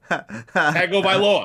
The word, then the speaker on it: Tagovailoa: Tagovailoa. Tagovailoa. Right? Tagovailoa.